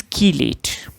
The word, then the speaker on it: chelate: Now it is pronounced as chelate. So it is chelate.